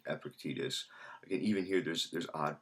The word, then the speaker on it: Epictetus: told me it's Epictetus, and I had heard people pronounce it both Epictetus and Epictetus. I think now, the more that if you go to certain sources, the more I talk to other people, I think there is agreement that it's something like Epictetus.